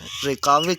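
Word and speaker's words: Reykjavik: इसको इसमें जे साइलेंट है। रेकाविक जो है ये आइसलैंड का दारुल खलाफा है।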